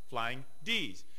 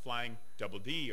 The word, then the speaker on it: Flying DD: apostrophe there's no s it just says flying DD but it's pronounced flying D's you would think it was pronounced flying Double D or no and I